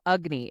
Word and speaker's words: Agni: So Agni, it sounds like it should be spelled with a U. It's not. It's actually Agni, Agni, Agni, and it is your digestive fire.